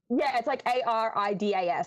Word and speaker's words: Adidas: It's like ARRIDAS. That's like kind of how they pronounce it.